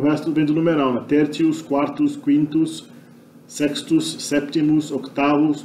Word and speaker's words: tertius: verdade é uma semivogal, ele acaba fazendo T ficar ts, ter. Tertius, né? Tertius, né?